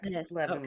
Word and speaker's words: Leavenworth: Leavenworth. Okay. Yeah. Yeah. You're saying it right, though.